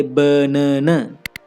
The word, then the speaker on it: banana: We don't say banana. Here one syllable is stronger. It is the second syllable and we emphasize it. We say it louder and longer.